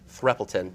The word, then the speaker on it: Threapleton: Brian Cranston, Michael Sarah, Scarlett Johansson, and Mia Threppelton. Did I pronounce that right?